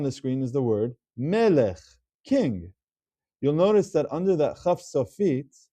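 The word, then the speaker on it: מֶלֶךְ: It's not pronounced as meleche, which would be a shavana, but it's melech. It closes off the syllable, it closes off the word.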